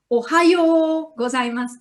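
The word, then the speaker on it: おはようございます: Ohayo gozaimasu, ohayo gozaimasu, ohayo gozaimasu. The first O is short, ohayo, yo is long, ohayo gozaimasu.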